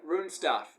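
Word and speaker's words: Runestaff: One thing I wanted to mention just with this compilation, there's a band on here called Rune Stuff.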